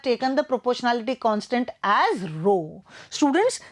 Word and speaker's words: rho: the proportionality constant as rho. Students, this symbol is pronounced as rho.